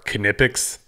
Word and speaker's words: Knipex: three with 17 votes at number two are canipix so that's how you pronounce it you've got to watch this video